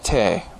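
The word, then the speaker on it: 德: Then there is, we've already encountered this, te, or sometimes pronounced and spelled de, virtue.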